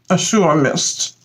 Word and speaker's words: Azure Mist: Azure Mist.